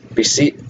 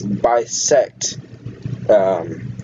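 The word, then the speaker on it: BisectHosting: The host I used is Beseet Hosting, I think that's how you say it. But if you guys can see the chat, I know I've kind of overviewed Bisect, okay. So it's Bisect Hosting.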